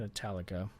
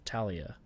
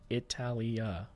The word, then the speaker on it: Italia: shrine we build in italica i keep saying italica it's italia italia sorry having a hard time